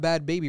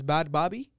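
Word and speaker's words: Bhad Bhabie: to many bad bobby it's spelled bad baby but i think it's not bad baby right it's bad bobby not a bad baby you sure she's especially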